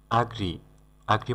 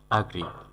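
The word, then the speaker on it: agree: আগ্রি মানে হলো রাজি হওয়া, এটাকে আবার অনেকেই এগ্রি বলে উচ্চারণ করে, সঠিক উচ্চারণ হবে আগ্রি মানে রাজি হওয়া।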